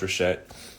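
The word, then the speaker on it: ראשית: It's either Reshet, pronounced Reshet, but it means the beginning or the first fruits.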